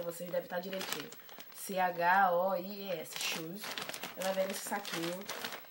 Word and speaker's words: Choies: Shoes, não sei. Lembra muito a pronúncia de shoes, que, né, que é sapato em inglês, mas é Shoes. O nome da loja é com Choies, Shoes.